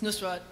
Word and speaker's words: Nusrat: That's why you mispronounced his name. Because, no. Because I have a friend named Penny, and I played her the thing, and she said Nusrat. Yeah. It's Nusrat, and he's my Elvis.